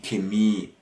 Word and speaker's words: Chemie: So you have here these kind of words which are not pronounced with a h, but more with a k. So das Charisma, the charisma, of course, or die Chemie, chemistry, obviously.